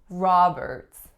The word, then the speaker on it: Roberts: have a Earth's Roberts the ending of the is pretty tricky it's an alveolar affricate so it's not it it's not a it's really a combination of both Roberts next one we